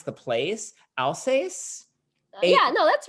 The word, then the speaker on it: Alsace: less sweet Riesling, like from I can't even pronounce the place, Alsace. A yeah, no, that's right. okay, Alsace.